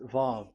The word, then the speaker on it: Vav: So it's V as in Vogue. So it's really V. How to read Vogue? So the word, the shape Vav is really pronounced V, like Vogue. That is it, pronunciation. So here in this side, it's pronunciation. This is pronunciation. So according to the old Hebrew word today, those who the owner of the words, I mean, so it's a V. So don't change it into W, and you will say